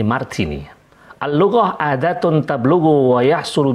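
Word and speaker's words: Martinet: Orang menyebutnya atau membacanya Martini.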